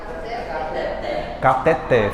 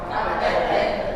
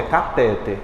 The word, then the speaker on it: cateter: fala essa próxima aí cateter fala catet não é cateter é catet a mais forte é o té igualmente ureter a você